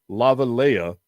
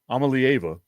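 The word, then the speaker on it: Iamaleava: And whenever you look at Nico Lavalea, or however the hell you say his name, Amalieva, there we go.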